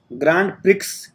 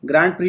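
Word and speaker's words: Grand Prix: सी में बेहतरीन ग्राफिक्स यह ग्रांड प्रिक्स ग्रांप्री बोलते हुए तो एक्स इसमें साइलेंट है ग्राफिक्स नहीं तक राइट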